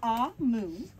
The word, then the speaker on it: Omu: note to the reader AMU pronounced a moon is the Evo term